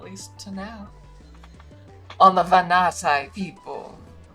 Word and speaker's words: Vanati: to now on the Vanati people. The Venati. Oh. Oh, here we go. Vanati. I was kind of doing it right. Uh, the Vanati. Vanati. I don't know where the syllable stress goes.